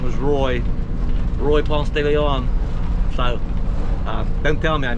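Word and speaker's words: Ponce de León: He said, a buddy I went to school with in Houston, Texas, his name was Roy Ponce de Leon. So don't tell me I mispronounced that.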